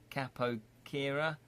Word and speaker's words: capoeira: Very pro-theatric with rogue discipline like the Brazilian dance style capoeira, pronounced capoeira.